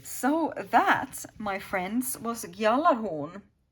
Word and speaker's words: Gjallarhorn: Okay, so that, my friends, was Gjallarhorn. Or Gjallarhorn is how I would say it, the G being silent.